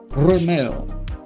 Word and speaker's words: Romeo: Romeo. You gotta roll your R's for that one.